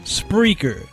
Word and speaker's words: Spreaker: Spreaker.